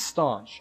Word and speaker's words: Staunch: Staunch. It is Staunch. I was right.